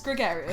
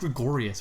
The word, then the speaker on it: gregarious: It's Gregarious. I thought it was pronounced Gregorious, which is why I'm like...